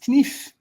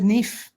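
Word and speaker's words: kniv: word for knife and the proper way of saying it is knife but i said nif and i didn't say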